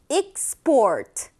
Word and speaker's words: export: 하다 자 가연 정확한 말은 뭘까요 그렇죠 바로 export 이렇게 발음이 되죠 ex or export 이렇게 발음이 되는데